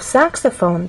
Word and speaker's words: saxophone: In the case of saxophone, there are also three syllables, but the stressed syllable is the first one, which means we have